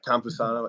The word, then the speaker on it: Campusano: Yeah, Campusano.